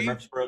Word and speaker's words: Murfreesboro: Is that how you pronounce it? Yes, sir. Murfreesboro, Tennessee.